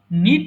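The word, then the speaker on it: knit: silent letter বলি so silent letter গুলো কখনো উচ্চারিত হয় না সো এই কারণে এটা কেনেট হবে না এটা হবে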